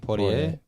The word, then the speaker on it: Poirier: A lot of people mispronounce his name. Poirier.